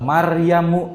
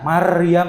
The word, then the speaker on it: Maryam: Maryamu tidak boleh dibaca Maryam, tidak boleh, tapi Maryam dibacanya. Harus tebal, harus tafhim.